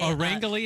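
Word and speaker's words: Orangily: no wrong answers but we like to say Orly is okay it's okay so we say smush of orange and happily together so orang I that's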